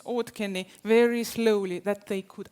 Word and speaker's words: Auðkenni: and your language so they ask you to pronounce OD Ken very slowly that they could understand Ken once